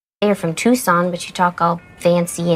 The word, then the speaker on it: Tucson: We are broadcasting to you guys live in Tucson, Arizona. Oh, It nice. is August 11th, 6:39 p.m. You said it wrong. Tucson, Arizona.